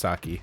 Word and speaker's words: sake: I know it's pronounced sake.